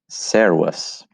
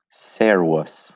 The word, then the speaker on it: Servus: Servus. Servus. Listen to this again. There's that V sound in there.